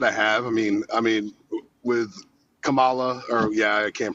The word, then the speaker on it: Kamala: I mean, with Kamala, I can't pronounce her name the way she wants to pronounce it. You know what a comma is? Kamala, there you go.